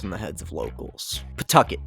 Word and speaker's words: Pawtucket: Pawtucket is the city's name. If you say it right, it sounds like you're spitting chewing tobacco.